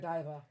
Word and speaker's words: Godiva: and he couldn't find it never heard it pronounced Godiva Godiva never it's Godiva yeah okay go diva see another funny moment